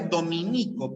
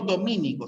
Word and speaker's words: dominico: pediatra en la a se pronuncia dominico por si acaso ya no domínico sino dominico caucaso ya como esdrújula